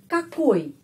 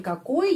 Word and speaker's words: какой: Di sini какой ya pengucapannya pada huruf O. Karena itu какой.